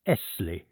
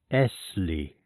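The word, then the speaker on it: Essley: My name, he said, is Esley. He pronounced the word, lingering upon the double s till it sounded like a long hiss. Essie, he repeated as though he derived some satisfaction from the repetition.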